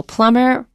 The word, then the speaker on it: plumber: So plumber, the B is not pronounced.